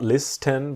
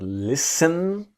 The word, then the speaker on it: listen: So to listen to someone or something is about to give your attention to this idea that the T is silent. It's not list 10 but listen to listen to me, you, him, her, us, them.